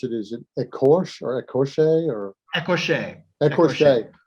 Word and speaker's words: écorché: I was reading, and I don't know how to pronounce it. Is it écorché or écorché or écorché?